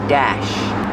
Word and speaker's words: dashboard: Use the short A like black cat and apple. Dash.